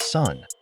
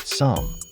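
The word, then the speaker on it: 三: superstitions first up number three in Mandarin it's pronounced sun which sounds like s meaning to give birth so for Mandarin speakers three is a good number but hold your horses in Cantonese three is pronounced some which sounds like split or separate definitely not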